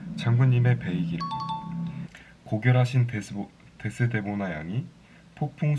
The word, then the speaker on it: 의: 뒤에 붙은 의는 에라고 발음하면 됩니다. 장군님의 배이기를.